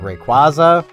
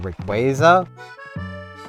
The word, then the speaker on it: Rayquaza: Like, we've got Rayquaza or Rayquaza. Both our official pronunciations.